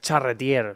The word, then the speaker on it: Charretier: nervos el ch pero luego le pronuncio en FR porque es charretier sea charretier pues muy